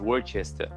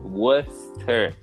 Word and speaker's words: Worcester: Worcester. Oh, Worcester sauce. Worcester sauce. There you go. Worcester. But you know the British, they don't pronounce that hard. Yeah, so it sounds like Worcester sauce.